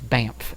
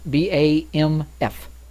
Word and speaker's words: Bamf: This can only mean it can't be pronounced. That, Bamf. Bamf? The name that the band seems to call itself is Bamf. B-A-M-F.